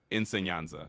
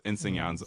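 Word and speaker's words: enseñanza: you say ensenaza Yeah, that war can be a little tricky. You say it like insyanza. So it's insyanza which means teaching or instruction.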